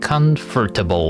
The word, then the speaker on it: comfortable: For US accent or polite way of speaking, you can't skip the R. Comfortable, but in is this UK? Comfortable. Where's the stress? Come. The first syllable.